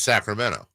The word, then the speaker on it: Sacramento: Toronto in nor californ like we say Sacramento yeah because there is no tea in Sacramento that is true it's Sacramento there was one last